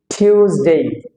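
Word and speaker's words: Tuesday: হাস্যকর বিষয় সেটা হলো আমরা বলি টুয়েসডে আসলে টিউসডে টিউসডে থিউজ ছয় রশি থিউজডে থিউজ ডেই দেন সাইলেন্ট লেটার আছে এর ভিতরে একটা ডি সাইলেন্ট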